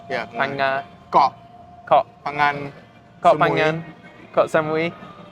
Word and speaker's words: Phang-nga: Did I pronounce that right? Yeah, Phang-nga.